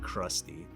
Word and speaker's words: CRXTY: I'm pretty sure you're supposed to pronounce it Krusty.